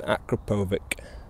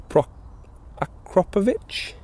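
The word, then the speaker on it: Akrapovič: want to change for an acrapovic or a acrop ofic which is apparently how you say it please do tell me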